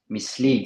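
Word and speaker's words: mislead: suiv donc deceive misle misle c'est pareil donc le E a c'est un il long donc le premier c'est un i court missle Mle tu vois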